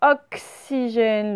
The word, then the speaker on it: oxygène: Oxygène, le X, il vaut que ce, bien sûr.